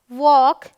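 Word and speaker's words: walk: All right, ये है चॉक, वॉक, folk, could, should, योक, ठीक है। चलिए, एम के उच्चारण के नियम में क्या है, एम का उच्चारण जो है म होता है, प्रिटी सिंपल।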